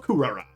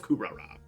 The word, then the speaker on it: Kuhrara: to map locations income Rock the kingdom of kurara that's how you say it I like that Kingdom of kurara say that bad boy all right good stuff